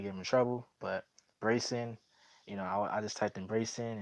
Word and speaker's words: Breyson: Cause I thought it says Bryson, but it's Brayson.